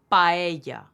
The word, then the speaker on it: paella: Spanish the word is paella paella not paella or paella paella so we have an ah and a together we pronounce them both hence we say paella